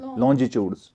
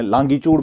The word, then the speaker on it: longitude: तो इनको लॉन्जिट्यूड भी प्रोनाउंस किया जाता है। तो हम आमतौर पर कश्मीर में लॉन्गिट्यूड बोलते हैं, तो लॉन्गिट्यूड आप पढ़ सकते हैं, लेकिन प्रोनाउंसिएशन पता होना चाहिए, इट इज़ लॉन्जिट्यूड है।